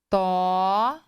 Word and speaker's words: tórax: então vamos lá no tórax tórax tão tó sílaba tônica terminou em x assento nela com o